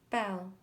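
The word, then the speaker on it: belle: it like this Amy Bell means beautiful in French you say it like this Bell Bonjour means hello in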